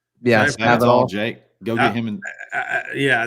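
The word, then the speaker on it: Spavital: Somebody in here in the chat, the Baylor offensive coordinator, how do you pronounce it? Spadaval? Yeah, Spadaval, Jake.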